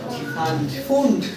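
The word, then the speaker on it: Pfund: 5 return করলে কি ফুন্ড। পি উচ্চারণ হবে না।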